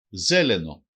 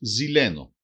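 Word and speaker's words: зелено: Ζέλενο, ζέλενο, πράσινο. Προφέρεται και ως ζηλένο.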